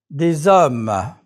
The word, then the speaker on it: hommes: Des hommes. Des haricots verts. The letter H is never pronounced in French.